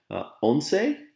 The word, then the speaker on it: once: they're kind of similar onsei is 11. it looks like once but it's pronounced as onse 12 13 14 kinsei